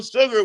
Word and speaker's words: sugar: If I say, go get me, spell sugar, you will spell sugar without an H, but you will pronounce it with an H.